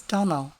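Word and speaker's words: Domhnall: the middle of it d-o-m-n h-a-l as Donald like Donald but without the D on the end and that's actually how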